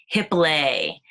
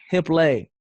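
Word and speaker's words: Hiplet: So now you're still a professional dancer with it's called Hip lay. hip lay. With Yeah, hip it lay. rhymes with ballet.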